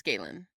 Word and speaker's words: Galen: Basically, Krennic and Galen Urso, Galen Urso, I forget, I think it's Galen. Galen Urso, right, Yeah. that's the way it should be pronounced.